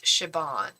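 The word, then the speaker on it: Siobhan: asking my favorite name is shabon it's an Irish name shabon I also love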